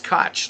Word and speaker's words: Koch: Oh, so it's Koch, like the mayor of New York City.